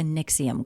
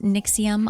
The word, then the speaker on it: NXIVM: it stands for but I think it's pronounced nixium I always struggled with